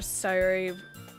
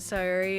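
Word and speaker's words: Sayori: I never noticed that Sayuri is pronounced so close to Siri.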